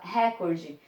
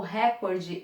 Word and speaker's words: recorde: Como é que muita gente fala recorde? Bem, se fosse rúbrica ou recorde, as duas palavras levariam acento. Mas não levam. Pronúncia correta. Rubrica. Recorde. Rubrica.